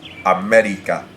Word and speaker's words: América: Let's look at some esdrújulas, such as América. Típico. And as you may have noticed, that those two words have their stresses on the third to last syllable.